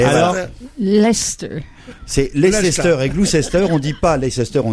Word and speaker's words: Gloucester: Et maintenant, Christine va te dire comment on prononce. Et alors Leicester. C'est Leicester et Gloucester.